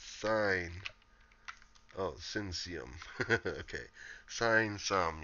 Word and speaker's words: sine: Sin sum. It's not sin sum. It's sine.